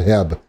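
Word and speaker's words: H-E-B: grocery stores called hebs it's spelled heb but lauren tells me it's called ebb just accept it so lauren's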